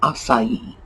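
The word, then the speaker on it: açaí: or whatever uh and of course the second spelling is of the spelling you would see in a romance language the pronunciation is acai the reason that romance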